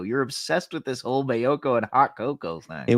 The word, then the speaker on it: Maiocco: only one just because his name rhymes with hot coco you're obsessed with this whole mayoko and hot coco thing